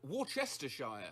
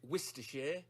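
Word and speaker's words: Worcestershire: I pronounce it like Warchestershire. I've only heard it pronounced like woristers. I say worester. I should know.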